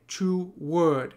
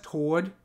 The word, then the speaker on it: toward: Some people say two word. They pronounce this as a two syllable word. If that is you, that this line might have confused you a little bit. This is being pronounced how it is in the US, toward. Like it's just a one syllable word in R.